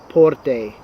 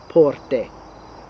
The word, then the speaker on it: porte: that out this way you don't say porte and put a little y sound at the end you cut that off porte just like okay let's